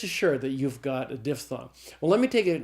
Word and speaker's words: diphthong: is called a diphthong probably thought it was diphthong but it's not it's diphthong all right so a